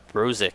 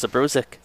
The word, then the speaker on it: Zabrozik: the broadcast it's pronounced rosic even though there's a z at the beginning as a teammate of his i never had a column by his last name i always assumed that it was zabrozek i've never heard a